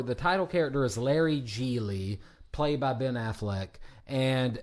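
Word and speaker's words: Gigli: title Char or the title character is Larry jeely played by Ben Affleck and at the beginning of the movie people mispronounce his name as jiggly or giggly and I thought it was a few a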